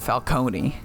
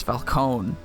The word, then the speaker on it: Falcone: You're a lawyer, You have to know it's not Falcone. It's Falcone.